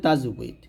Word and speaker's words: তাজবিদ: তাজবিদ তাজবিদ তাজবিদ এরকম শেষ জানে আর কি উচ্চারণ হবে তাজবিদ তাজবিদ এটি বা এটা জুদ শব্দের মূল থেকে